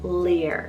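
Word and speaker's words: Lír: maybe gods we have the irish god name lear spell l i r and the i has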